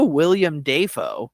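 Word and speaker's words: Willem Dafoe: of Lohan Lindsay loen um and there's also William Deo is actually technically how you pronounce that um and uh Jean Carlo Esposito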